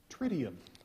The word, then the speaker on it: tritium: Tritium.